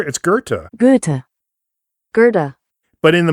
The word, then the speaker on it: Goethe: It's Goethe. Goethe. Goethe. But in the movies, she says Gotha, and this is something that Connie Towers talks about in her interview. She says, "Sam, I'm sorry, it's pronounced Goethe," and Fuller says, "I